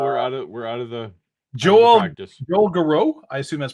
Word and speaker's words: Garreau: You can tell we're out of the Joel Garreau. I assume that's pronounced Garreau.